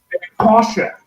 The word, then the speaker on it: Porsche: I hear the name Porsche. I will say this only once. Porsche.